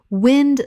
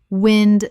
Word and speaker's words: wind: Wind the noun, moving air. Wind rhymes with pinned. Wind the verb, to twist or coil. Wind rhymes with find.